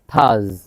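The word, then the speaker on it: Thursday: হচ্ছে Wednesday Wednesday Wednesday থার্সডে থাস থার্সডে আর এর যে উচ্চারণ সেটা হবে না কারণ আর এর পর কনসোনেন্ট আছে থার্সডে ফ্রাইডে ফ্রাইডে এফ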